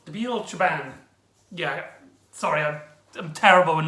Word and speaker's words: Nabil Shaban: And he's played by Nabil Schnabel. I'm probably pronouncing his name wrong. Nabil Shaban. There you go. Nabil Shaban.